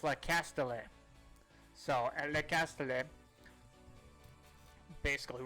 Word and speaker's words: Le Castellet: I was saying Le Castellet. That's wrong. It's Le Castellet.